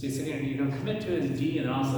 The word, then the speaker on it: eta: Now ADA is going to be like the Canadian A. You know how Canadians say A.